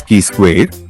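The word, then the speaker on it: chi-square: symbolically written as two pronounced as key square is a statistical measure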